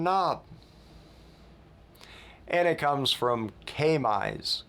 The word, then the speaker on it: KMISE: and it comes from camis k-m-i-s-e i i assume k-mize is how you pronounce it but if you've got